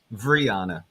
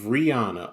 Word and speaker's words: Rihanna: guys by the stream there you go Brianna of Rihanna okay sorry that's how you say it yeah